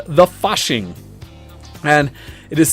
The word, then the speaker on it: Fasching: then there called the fashing and it is said I know I can't say it right it's like the fashing because it is a German event and essentially it's a